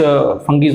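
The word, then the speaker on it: fungi: अब हम आगे बढ़ेंगे और आगे और कुछ फंगीज और उसके बारे में देखते हैं। ओके, तो नेक्स्ट है what are the characteristics of फंगी। कुछ लोग उसको फंगाई भी बोल लेते हैं, कोई भी प्रोनाउंसिएशन कर लो।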